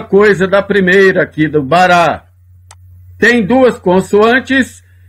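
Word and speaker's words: ברא: Só que o alif não fecha a sílaba, é como se ele não existisse aqui na palavra.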